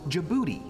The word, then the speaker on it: Djibouti: D is for Djibouti.